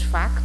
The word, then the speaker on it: facto: Aspecto, agora não tem C, mas facto tem porque nós pronunciamos o C.